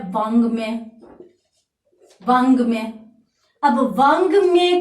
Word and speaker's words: वाङ्मय: अब वाङ्मय का शाब्दिक अर्थ क्या होता है, वाङ्मय का शाब्दिक अर्थ होता है साहित्य, और यहां पर अपनों ने इसका शुद्ध उच्चारण देखा है, वाङ्मय यानी क वर्ग का।